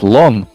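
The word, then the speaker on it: слон: It's pronounced slon.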